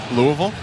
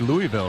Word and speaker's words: Louisville: 20 inside three and0 I like that you say it correctly Louisville well if you're not from Louisville you usually say Louisville right that's what a ton of people say but that's not the correct way you're a local they